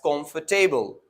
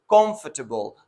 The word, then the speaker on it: comfortable: the correct way is comfortable the stresses on the first syllable where students normally put a stress on table right where where it is a wrong pronunciation and the word comfortable has three syllables and when you pronounce